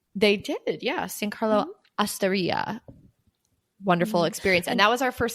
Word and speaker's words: osteria: Other places we dined were San Carlo Osteria. I think it's Osteria, but yes. Oh, I'm sorry. That's so embarrassing. I went to Italy. Osteria. Yeah, rhymes with hysteria.